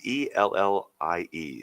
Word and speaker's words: Ellie: It's ELLIE. So that would be Ailey, right? No, that would be Ellie.